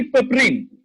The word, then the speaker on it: piperine: Fourth जो चीज है उसको बोला जाता है कि पेपरिन, ठीक है, उसका स्पेलिंग है PIPERINE।